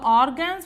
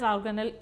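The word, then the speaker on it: organelle: It should be pronounced as organal. The terminology right terminology for that to use it is organal. It should be never pronounced as a organ.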